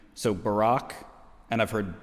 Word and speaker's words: Barak: pronounce the name so barack and i've heard barrack and i think it's english or american or british pronunciation because the brits tend to emphasize the first syllable like when they say